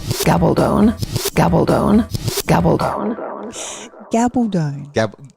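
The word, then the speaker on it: Gabaldon: this is how it sounds my name's Diana gabone gabone gabone gabone gabone gab G Gabon gabone anyway go on now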